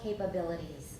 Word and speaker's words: capabilities: of human phonetic capabilities what's the first syllable capabilities oh ladder hey everybody mark it don't get it wrong again put it in your program if you need to but it's capable capabilities okay human phonetic phonetic capabilities